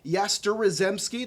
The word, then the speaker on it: Yastrzemski: Mike Yastrzemski, that's actually how you pronounce it.